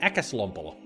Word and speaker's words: Äkäslompolo: How do you pronounce äkäslompolo?